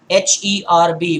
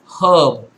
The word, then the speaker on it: herb: comes to Indian English, H-E-R-B will be pronounced herb, whereas in US it would rather be herb, where the H is not, it does not make the her sound.